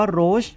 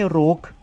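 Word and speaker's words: Roach: นะ ฮะ อ่า โช อ่าน ว่า โรช นะ ครับ ไม่ ใช่ โรค นะ ฮะ อ่า อัน นี้ คน ไทย หลาย ๆ ท่าน อาจ จะ อ่าน ผิด นะ ฮะ ก็ ไม่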